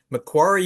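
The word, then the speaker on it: Macquarie: She holds a Bachelor of Science from uh McQuary University. Now, I'm sure that's spelled that's probably pronounced differently.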